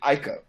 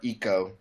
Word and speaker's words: Ico: is where I played Ico you know it's where I played uh or or Eco depending on how you want to pronounce it uh Shadow Colossus where